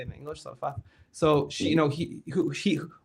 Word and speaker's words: Zarephath: Zarephath.